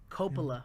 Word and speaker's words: Coppola: Coppola, my bad.